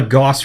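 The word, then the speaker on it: Gauss: make this amusing uh so it's called a Goss rifle or Gus rifle depending on how you want to pronounce it so you only have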